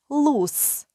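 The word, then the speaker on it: loose: щільно прилягаючий лус вільний Зверніть увагу на слово лус якщо воно пишеться з двома літерами о ц вільний і S вимовляється як с лус Якщо ж воно пишеться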